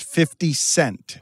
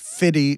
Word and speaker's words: 50 Cent: So just for your perusal, I'm going to say white people should always clearly pronounce 50 Cent. He's not fitty to you.